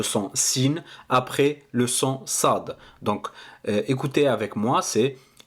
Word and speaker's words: ص: de la lettre sine pour bien prononcer le SAD il fa faudra positionner le bout de sa langue juste derrière les incisives basses de votre bouche de vos de vos